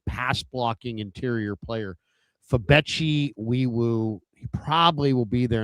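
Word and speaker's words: Febechi Nwaiwu: It's spelled Nwewu, but I think it's pronounced Weewu.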